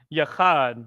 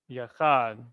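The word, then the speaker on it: יחד: Yachad, which also looks like this. Ya, Cha, and then Da. Yachad.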